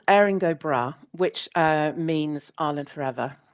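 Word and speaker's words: Erin go Bragh: Because I can't pronounce this. Yeah. It's called Aaring Brah, which uh means Ireland forever.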